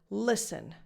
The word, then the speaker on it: listen: Another example, listen. Now, first of all, the T in this word is silent.